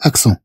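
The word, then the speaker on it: accent: إذا نتكلم عن أكسون، في اللغة الفرنسية نقول أكسون. إذا في اللغة الفرنسية نقول أكسون، تكتب بهذا الشكل أكسون، بهذا الشكل.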